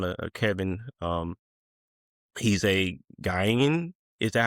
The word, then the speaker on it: Ghanaian: Um he's a gyian. Is that how you pronounce it? Ganaian Ganaian okay Ganaian uh he he uh migrated here